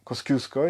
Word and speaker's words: Kościuszko: właśnie ordynans m pułkownika Kościuszko kosciusko Jak to mówili albo niektórzy Muko z laską na przykład też wymawiają to nazwisko no i ta barwna